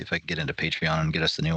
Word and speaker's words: Patreon: I'll see if I can get into Patreon and get us the new one. Right? So it's pronounced Patron. Only if you're drinking it.